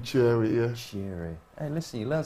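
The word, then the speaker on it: Kyereh: you say Daniel Kofi kiary cheering yeah you don't pronounce the cake yeah you don't pronounce they say it as a seat in Cherry yeah Hey listen you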